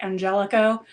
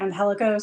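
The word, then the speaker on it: Angélico: stated that Angelico now wants his name pronounced Angelico he is no longer anhelo so in case you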